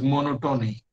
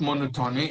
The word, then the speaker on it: monotony: people, I have heard many people articulating the word monotony as monotony. And it is not monotony, it's monotony. The stress is on. Can you tell me where the stress lies in monotony? No, yes. And in no, you get that short vowel as you get in cot.